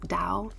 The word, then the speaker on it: Dao: How do you pronounce that? Dao.